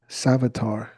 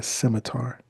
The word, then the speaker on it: scimitar: Now, those swords, that's called a savvatar. I believe I'm pronouncing it right. That's a moorish sword. I'm sorry, scimitar. It's called a scimitar.